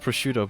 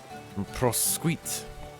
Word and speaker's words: prosciutto: I know it's pronounced prosciutto, but it just sounds funny to say prosquite. You ever had prosquite? It's like incredibly salty. It's disgusting. Prosquite.